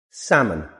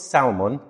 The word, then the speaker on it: salmon: Salmon. A lot of people say salmon because it has an L in it, but the L is silent. It's not salmon, it's salmon.